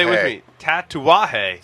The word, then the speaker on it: Tatuaje: Tatuaje. Tatuarje. Hey, Paul, pronounce this rum for me.